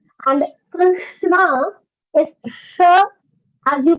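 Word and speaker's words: कृष्ण: The third pronunciation is what is there in Krishna. Sure. So that is Krishna. Krishna. Krishna. Krishna. Krishna. Krishna. Yes, that is, yes. Krishna. That is like shoe.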